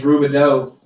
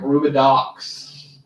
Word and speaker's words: Rubidoux: Their last name's Rubidoux. Everybody wants to call them like Rubidox.